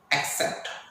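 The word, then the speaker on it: accept: आपको हमेशा साउंड का ध्यान रखना है, जब भी ACC का साउंड आता है या ACC स्पेलिंग आता है तो ACC को हम लोग एक आधा का और शाह पढ़ेंगे तो एक्सेप्ट।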